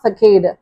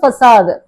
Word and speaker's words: facade: இதை எப்படி ப்ரொனவுன்ஸ் பண்ணா நாட் ஃபெகேடு, இதை வந்து ஃபசாது.